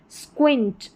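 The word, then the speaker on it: squint: जा रहा है SQU को, और यह है स्क्विंट, स्क्विंट। थोड़ी टफ मुश्किल स्पेलिंग है, तो उच्चारण साथ में है, तो इनको देखकर आप पढ़ सकते हैं, स्क्वाड और यह है स्क्विंट।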